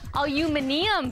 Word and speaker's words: aluminium: chaos began sales of aluminum bats or as they say in the uk aluminium bats have gone up five